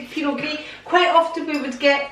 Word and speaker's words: Pinot Gris: This wine says Pinot Gris, that's how it's pronounced. Other people might say Pinot Gris, because they might pronounce the S at the end, but a lot of the last letters are not pronounced.